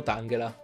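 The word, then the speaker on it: Tangela: mani dall inglese e anche il pokémon tanghel ha dato che in inglese ed angela sarebbe la corruzione della parola tangled allora andrebbe pronunciato tanghera entriamo quindi nella seconda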